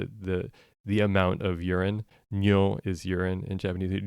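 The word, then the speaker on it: 尿: Ryo is amount and those probably sound the same to listeners because my pronunciation is terrible, but uh, nyo n y o with a long vowel.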